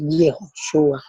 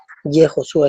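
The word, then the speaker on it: יהושע: Entonces, la pronunciación correcta o más antigua del nombre de Jesús en hebreo es Yehoshua. Yehoshua, esa es la pronunciación antigua.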